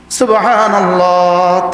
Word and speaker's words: সুবহানাল্লাহ: এটা বেশি হা না করলে হার উচ্চারণটা ঠিক হয় না।